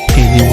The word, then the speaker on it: GNU: Esto es como dato simplemente anecdótico para que lo sepan, porque cuando se pronuncia GNU en inglés tiene una singularidad parecida a Ñu.